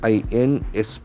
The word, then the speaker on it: inspection: INSPECTION. Okay. Shun ending. Inspection. Inspection. The accent falls on the second syllable.